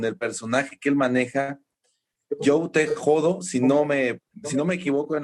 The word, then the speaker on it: Joe T. Hodo: su trabajo con el personaje que él maneja, Joe Te Jodo, si no me equivoco en la pronunciación. ¿Es así, mi querido Gregory? Joe Te Jodo.